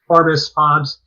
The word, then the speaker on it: Forbes: And it's simply the pronunciation of Forbes, Fobbs, and there are many variations.